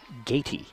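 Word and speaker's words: Gaty: And it's actually Gatey.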